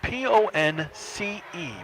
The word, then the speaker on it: Ponce: making that stop was omar ponce ponce spelled p-o-n-c-e pronounced ponce 510 left plymouth has a second down